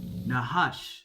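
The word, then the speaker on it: נחש: Nahash.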